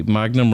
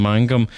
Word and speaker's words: Mangum: But I suppose if people say Magnum rather than Mangum, it actually adds to the sense of menace that you carry around with you.